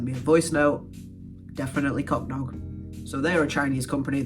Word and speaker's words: Cocdog: I messaged the dude and I was like, how do you pronounce the name of your company? He sent me a voice note. Definitely Cocdog.